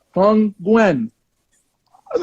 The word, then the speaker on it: Nguyen: I'm like, she actually pronounced that correctly. I was like, look, UTM. I don't know who this white woman is, but this white woman is on that next level. No one can pronounce Nguyen. Everyone messes it up.